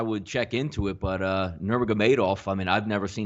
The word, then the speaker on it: Nurmagomedov: Donnie, it's Nurmagomedov. I went for the official spelling today on how they pronounce it, and I have Nurmagomedov.